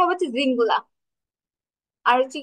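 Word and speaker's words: Singular: এটা হচ্ছে উচ্চারণটা হবে জিঙ্গুলা।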